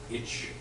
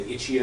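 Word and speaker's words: itch.io: they're like he's like if I'm doing a presentation I call it each just to make it fast if I want to sound cool I say itchy oh if someone knows what I'm doing and then if I'm telling someone how to get to the website they say HIO so it depends on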